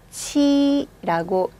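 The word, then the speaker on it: ち: 그런데 T가 아니라 치라고 읽어주셔야 돼요. 좀 달라졌죠? 자음, 음가가. 이때 치도 맞지만요. 쌍지오, 찌. 이 두 개의 중간 발음이 가장 좋으세요. 치. 치. 이게 제일 좋으시고요.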